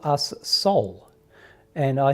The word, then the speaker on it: SOL: So the energy said, call us soul. And I said, oh, okay, is that like soul, S-O-U-L? And they said, no, it is spelt S-O-L, and it stands for signals of love, because that is what we are.